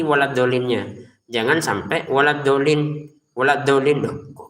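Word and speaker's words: الضَّالِّينَ: Ah, setelah enam harakat tekan ke lamnya. Tekan. Kalau kita hanya baca enam harakat tapi enggak tekan di lamnya, salah. Contoh, walad dolin. Oh, kok lamnya enggak ditekan? Dolin tekan lamnya itu walin tekan dolin lin enam harakat.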